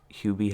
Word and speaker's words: Hubie: my number seven is hubie halloween oh which we pronounced for the longest time hubby halloween you did i